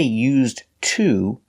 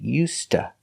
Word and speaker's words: used to: We don't say used to, we say used to. The D is pronounced like a T, used, and to is pronounced ta.